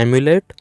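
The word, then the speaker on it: emulate: इसका जो प्रोनाउंसिएशन है वो ऑमलेट की तरह आ रहा है, एम्यूलेट, ऑमलेट।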